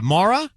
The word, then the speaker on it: Mora: Is Is it Mara or Mara? Mora. Mora. Mora. Mora. Sorry, I must have said it wrong.